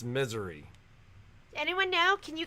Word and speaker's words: Missouri: from missouri i think in misery they pronounce it misery do they really yeah i don't know misery yeah so growing up i had you guys have heard me talk about uncle rick before but uncle rick had a house in the ozarks that he loved and we visited him there and i think i pronounced it missouri and he was like no it's misery does anyone know can